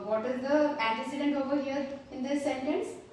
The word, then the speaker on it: antecedent: Pronunciation of this word is antecedent.